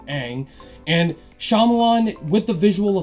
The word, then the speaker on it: Ang: wrong first of all it's not un it's Ang and Shyamalan with the